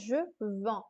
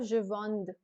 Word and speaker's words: vends: Please pay attention here that this is not sounded as je vende, because the D and the S both are consonants, and hence this will remain silent. You have to pronounce it as je vends instead of je vende.